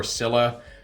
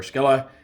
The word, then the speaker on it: Scylla: over whether it's pronounced skilla or cilla i'm going with like the most direct latin translation since she is named after a greek mythological creature so we call her skilla and then with selegon